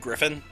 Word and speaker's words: Gryphon: And for the record, yes, I know it's pronounced Griffin.